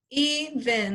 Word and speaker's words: even: So this is a open, because it's like E. We mark a long vowel E. And this syllable is bin, in. It sounds more like an I, sound like an I. So that would be a schwa, which would make this a closed syllable.